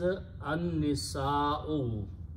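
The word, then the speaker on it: النساء: Here the word is an-nisa'u. Nisa'un is the female, but when you put the al before that, the full word becomes an-nisa'al. Lam is not pronounced, noon is pronounced together twice.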